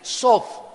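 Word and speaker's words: סוד: Pero cuando le dejamos el TH, la TH en hebreo se pronuncia como una D de Daniel, Sod.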